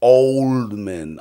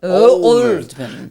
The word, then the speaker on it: Oldman: And I say his name wrong, and then Gary Oldman says, no Flavors, Oldman. Oldman.